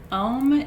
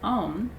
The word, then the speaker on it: om: shanti shanti shanti um om is the sound of the name of god it's actually made up of three sounds that are collapsed together just to to represent om and shanti is peace